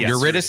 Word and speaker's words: Eurydice: Eurydice. Yes, I got it right. Excellent I got it phonetically on my notepad right here.